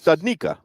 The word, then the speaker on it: Studnicka: Studnicka.